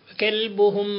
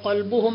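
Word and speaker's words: كلبهم: സാരമില്ലാത്ത രൂപത്തിൽ നിസ്സാരമായി കണ്ടാൽ, കൽബുഹും ബാസിതുൻ ദിറാഇഹി ബിൽ വസീദ്, കൽബുഹും, അവിടെ കാഫിൻ്റെ ഉച്ചാരണം കാഫായി ഉച്ചരിക്കാതെ ഒരാൾ ഖൽബുഹും എന്ന് ഓതിയാൽ, കൽബ് നായ, ഖൽബ് ഹൃദയം.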